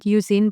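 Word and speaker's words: Euzen: And Maria at the time was singing in Uzine or Oizen, which it's said Uzine, but a lot of people say Oizen, so that's why I say it like that too.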